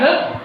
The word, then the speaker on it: know: Hang, जैसे पंखा लटका हुआ है ना, तो hang means लटकना। HIDE, hide. Hide means छिपाना। HOLD, hold. होल्ड मीन्स पकड़ना। अब देखो KNOW, नो। के यहाँ पे साइलेंट है तो क्या हो जाए?